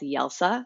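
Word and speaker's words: Jelsa: in a town called yelsa spelled with the J but pronounced with a Y as in Croatian on the island of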